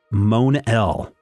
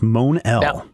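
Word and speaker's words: Mon-El: to pronounce this and the editor responds we pronounce it Monell as a Mon when it when our writers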